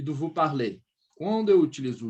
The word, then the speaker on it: parlez: Quando eu for falar você fala, vous parlez. Esse sufixo, esse EZ, ele vai me dar o som do E accent circonflexe.